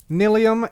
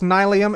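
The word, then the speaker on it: nylium: psych it's actually nyum nobody actually knows how to pronounce this word n y l IU M I am 100% convinced I've done a ton of research into how to pronounce it and nobody knows the answer in fact not only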